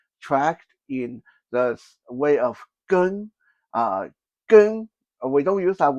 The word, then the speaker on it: gēng: Some people say jin. Okay, you will hear people say how many jin, but the proper pronunciation is gēng.